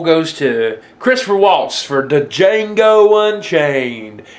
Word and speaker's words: Django: to Christopher Waltz for Django Unchained the D is silent I know the D silent you don't have to